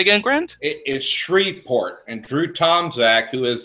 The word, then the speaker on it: Shreveport: also I'm sorry say again grant it is Shreveport and through Tomczak who is there who said